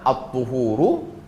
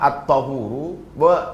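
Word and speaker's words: الطهور: Wa qaulul aksarin, pendapat mayoritas membacanya at-tuhuru kama qalahul musannifu rahimahullah, sebagaimana dinyatakan oleh Imam An-Nawawi bahwa membacanya at-tuhuru. Wa ghayatu ma fihi, tujuannya adalah annahum jawazu al-fatha, boleh dibaca fathah. Fa imma yakuna al-maftuh masdaran aidan kal matmum, boleh dibaca fathah at-tahuru, tapi yang mayoritas membaca at-tuhuru.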